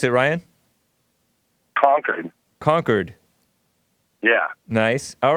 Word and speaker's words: Concord: Concord California or Concord California how do you pronounce it Ryan conquered conquered yeah nice all right what's up hey